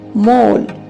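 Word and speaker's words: mole: ओ से ओ एल से ल और इ साइलेंट रहेगा। तो इस वर्ड को बोलेंगे मैं ओ ल मोल। मोल मींस तिल।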